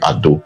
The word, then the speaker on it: Edo: It was the Edo people. Wherever you hear Ado or Yoruba people pronouncing Ado, they are still referring to Benin. They are referring to Edo. That's how they pronounce Edo.